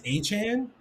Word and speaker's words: Achane: I think it's Achane, Achane. Okay, Devon Achane. but it looks like it's pronounced A-Chain for years, and then he came out and said it's A-Chain.